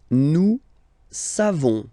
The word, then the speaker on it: nous savons: Nous savons. So classic ending for nous, O-N-S. You don't pronounce the final S.